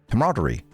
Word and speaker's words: camaraderie: Camaraderie.